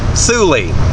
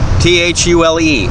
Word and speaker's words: Thule: norway iceland whatever thule t-h-u-l-e thule that's how it's supposed to be pronounced i've been told that angrily at by the people who make the little uh boxes you put on your car they're called thules it's not full apparently um anyway here we